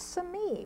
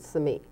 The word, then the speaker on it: Simi: the correct pron iation Sami Sami that's from an Indian name yeah shiji for The Villages that were the village that was in Sami Valley for many many